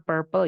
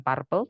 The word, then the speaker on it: Purple: pandang Purple itu Ungu bacanya Purple ya bukan Purple teman-teman kemudian ada juga redish